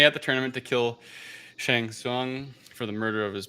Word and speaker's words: Shang Tsung: ancient mortal kombat tournaments um the emperor's sorcerer shang tsung i hope i'm pronouncing it right i don't know correct yep